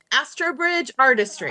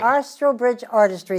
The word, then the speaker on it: Astrobridge Artistry: from the um as as oh I cannot pronounce this Ashley you're gonna have as Astridge Artistry Astridge Artistry thank you and I'm very eager to talk